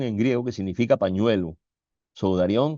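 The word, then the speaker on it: σουδάριον: Sudarión que no lleva acento en la O. El acento lo lleva en la A, pero no se pone.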